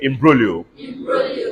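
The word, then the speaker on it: imbroglio: say in brolio I am b-r-o-g-l-i-o everybody say improvio the word improvio means entanglement squabble fight Discord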